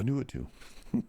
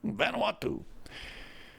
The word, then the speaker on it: Vanuatu: Vanuatu. Vanuatu.